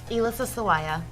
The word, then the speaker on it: Elissa Sawaya: Elissa Sawaya. Hello. Elissa Sawaya.